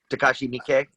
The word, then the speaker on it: Takashi Miike: And this one's Miike Tashi, or how do you pronounce his name? Takashi Miike.